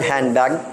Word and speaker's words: handbag: This is very familiar in the word handbag, no? Handbag, kani? Handbag. Ang letter D, di na kayo ma-pronounce. No?